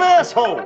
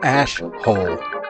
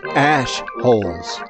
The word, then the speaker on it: Ash Holes: Pardon my French, but you're an asshole. It's pronounced ash-hole.